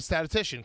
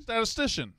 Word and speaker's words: statistician: You're not a statician, correct?